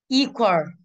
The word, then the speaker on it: equal: Equal. Âm số 1. Equal. Âm 1. Không bao giờ rơi vào chữ AL nhá, vì nó là đuôi rồi.